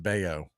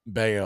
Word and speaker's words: Bello: days ago that is his last name is pronounced Bayo it's it's spelled Bellow for yeah but I heard it two different two different Outlets referred to it as Bale I was like man I just did a